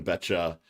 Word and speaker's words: Beccia: bring in our amazing guest for today, Betcha.